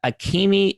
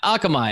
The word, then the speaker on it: Akamai: he was the co-founder of a company called akimi akimi is that how you say it akamai akamai god why did that come off right